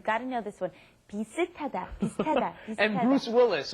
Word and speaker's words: 비슷하다: Notice the pronunciation might seem a little strange. 비슷 ends in a shit, an S Right. sound, right? But then it comes up against the hiat in hada, and then it becomes ta, 비슷하다.